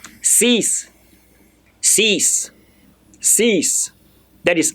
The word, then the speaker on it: six: you are pronouncing it the X at the end they will change towards s so C let me say cease cease cease cease that is